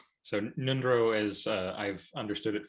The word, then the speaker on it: Ngöndro: roughly yes yes yeah it's a little tricky sometimes because it has a silent g and an ng and so that kind of throws people off a little bit but yeah nindro